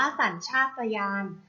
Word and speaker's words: สัญชาตญาณ: ค่ะ คำ ว่า สัญชาตญาณ สาร ชาตยาน อ่าน ว่า สัญชาตญาณ สัญชาตญาณ ประกอบ ไป ด้วย ส